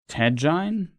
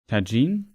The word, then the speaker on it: tajine: How is it pronounced though? Tajine. Tajine.